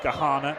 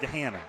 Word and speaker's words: Gahanna: And I was told it's pronounced Kahana, not Gahanna.